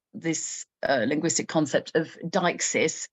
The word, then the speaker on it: deixis: uh linguistic concept of deixis, which I should uh point out is spelled d e i x i s. So, it's that deixis, not deixis. It's deixis.